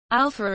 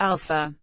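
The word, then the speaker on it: Alfa: Alpha is spelled with an F as it is in most European languages because the English and French spelling alpha would not be pronounced properly by native speakers of some other languages who may not know that PH should be pronounced as F.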